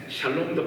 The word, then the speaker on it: 샬롬: 안녕하셨습니까 평안하셨습니까 샬롬 샬롬도 발음을 잘 해야지 살롬살롬을 죽일 놈 살롱 그러지 말고 샬롬 인간의 기쁨과 즐거움은요 인간이